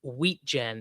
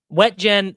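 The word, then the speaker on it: Wetjen: Looks like Kaden Wheatgen's name is pronounced Wheatgen. I mean, it's just that's just not as fun, though, isn't it? Right. Wet gen.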